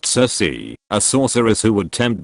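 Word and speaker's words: Circe: circan sir comes from the Greek mother cerse pronounced Cersei a sorceress who would tempt men into her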